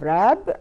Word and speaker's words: wrap: طبعا أولها W silent. So here we have wrap بمعنى يغلف.